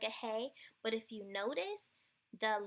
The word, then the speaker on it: Hey: Hey is pronounced like the H in help, transliterated with an H.